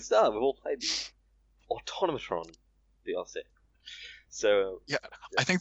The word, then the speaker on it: Automatron: Right now, we're gonna discuss the Automatron, or how's it actually pronounced? Automatron. Repeat after me. Automatron.